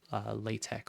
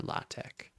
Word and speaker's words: LaTeX: to put this here, L-A-T-E-X, like this. But the last X is not the letter X, it is the Greek letter chi. And so when you're pronouncing this, it's called LaTeX or LaTeX, to be